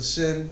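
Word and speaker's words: שׁ: either side because you one will be pronounced with a sh as in ship and the sin will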